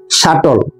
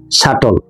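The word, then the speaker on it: subtle: সূক্ষ বিচার উচ্চারণটা দেখুন সাটল মাঝখানে একটা বি আছে যার উচ্চারণ হয় না সাটল অর্থাৎ সূক্ষ অন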